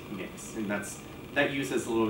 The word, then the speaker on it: Mx: If you want to have a gender neutral title, you have the MX, which is just pronounced mix.